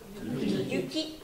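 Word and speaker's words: ゆき: Yuki, donc il y a 2 temps. Yuki, ça veut dire la neige. Alors que celui-ci, il y a 3 temps. Yuki. Allez-y. Yuki.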